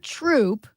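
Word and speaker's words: Throop: all right isn't that Troop it's troop they don't pronounce their H's in northeast PA it's one two three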